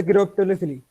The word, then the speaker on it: chiropterophily: Cairo Cairo कैरेप्टरोफिली। अरे चाइनोफिली है। क्या चीज? नहीं भाई, सर कैरेप्टरोफिली।